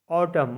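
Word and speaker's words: autumn: के फॉक मतलब लोकगीत एन साइलेंट रहता है एम के बाद आता है तब जैसे ए यू टी यू एम एन ऑटम मतलब पथ जर यह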